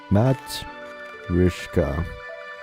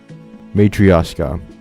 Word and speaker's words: matryoshka: I should probably know how to pronounce this. Matrishka. How to pronounce that word? This is important. Matryoshka.